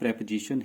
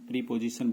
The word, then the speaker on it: preposition: इसका जो correct प्रोनाउंसिएशन है वो preposition है। इसको हम प्रीपोजिशन बोल देते हैं।